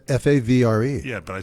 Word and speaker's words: Favre: to say it but you can't pronounce the r before the V it's right the fav favra favra that's it yeah well they don't say bet fav but they do say Favre Favre they do all